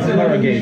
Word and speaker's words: Harrogate: Harrogate.